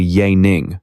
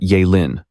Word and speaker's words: Ya Ning: My real name is actually Ya Ning, not Ya Lin.